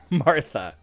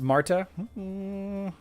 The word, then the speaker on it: Martha: be epic magic silence tja the silencer it's pronounced not martha mays till you know that matha is pronounced marta what is the time to beat now we'll